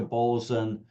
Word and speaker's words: Bolzano: on through the Dolomites, arriving through to Bolzan or Bolzano, whichever pronunciation you wish to use.